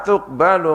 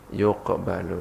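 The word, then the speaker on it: يُقْبَلُ: Bitai kelawan ta wal ya ilan ya. Kalau kita bacanya apa? Wala apa? Yuqbalu, ya pakai ya kan? Wattaqu yauman la tajzi nafsun an nafsin syai'an wala yuqbalu, pakai ya.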